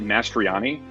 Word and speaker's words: Mastroianni: No, I pronounce it Mastriani. But I am well aware that the three vowels in a row is a real wild card.